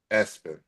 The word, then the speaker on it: ESPN: And then on top of that, it actually is pronounced Espen.